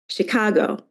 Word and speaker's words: Chicago: example like Chicago um so Chicago there's a there's a shape to the to uh that word um there's there's Accent on the second Chicago and then fall High